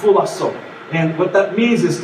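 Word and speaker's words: φυλάσσω: To keep yourselves in the Greek is pronounced phulasso.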